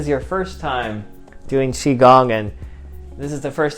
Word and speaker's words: qigong: or maybe this is your first time doing qigong and this is the first time you've heard it pronounced correctly so either way you can experience